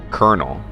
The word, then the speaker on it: colonel: caramel this agreement is colonel not like you know popcorn colonel as in the rank in the army who the hell thought that c-o-l-o-n-e-l has an r in it who decided that i